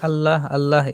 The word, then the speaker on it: আল্লাহ: আমরা তো বাঙালি এবং আসামী লফজে আল্লাহ সবসময় পাতলা করে এবং বারিক করে পড়ি। আল্লাহ আল্লাহ এরকম করে পড়ি।